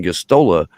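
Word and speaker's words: Gosztola: who was on the show his name's kevin gustola um which is the the good kevin um g-o-s-z-t-o-l-a is how you spell that uh is the co-founder of shadowproof and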